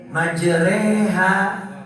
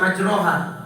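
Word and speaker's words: مجريها: Di sini kita bacanya harus wa qala rkabu fiha bismillahi majreha wa mursaha. Gak boleh dibaca majroha, salah.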